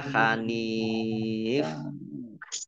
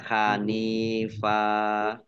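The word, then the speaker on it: حَنِيفًا: apa dibacanya fathah ya dibacanya tidak dibaca Hanan dan juga tidak dibaca Hanif tadi dibacanya Hanifa nah ini fathah P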